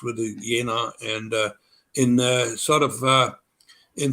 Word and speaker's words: Jena: It's spelled Jena, Jena, pronounced with the Jena, and in sort of in Thuringia, which is pretty close to Dresden, actually.